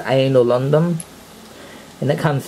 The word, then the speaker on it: Ainol: boot screen for sure and that's how you pronounce it anal a pretty nice boot screen i might end